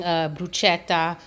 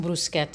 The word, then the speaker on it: bruschetta: salad on a sandwich making bruschetta actually it's pronounced buscetta I'm sorry I keep